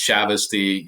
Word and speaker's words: Chavoustie: your number one just because of the pr pronunciation of my last name I me you got it 100% it's shavy you nailed it it's it's so hard to